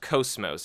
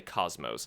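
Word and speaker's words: KOS-MOS: time that character is cosmos and yes it's pronounced coast most if you've actually played Xenosaga don't say cosmos there's so many people online who keep saying cosmos I don't know why but anyway Cosimo's is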